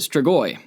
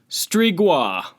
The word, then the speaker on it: Strigoi: of vampire from Romania, every American and Australian person that I watch, because those were the 2 dialects of the videos on YouTube, they pronounce it Strigoi. And then you punch it into Google Translate, and it detects Romanian, and I'll turn it up so y'all can hear. Strigoi. No. Strigoi.